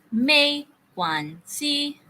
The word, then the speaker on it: 没关系: Look at the first character. It's in second intonation. So, para kang nagtatanong. Ha? 没 Good. Second intonation. Second character. First intonation.